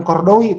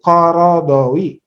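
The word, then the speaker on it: Qaradawi: Kayak Yusuf Kordowi itu bukan Kordowi, itu Korodowi ya.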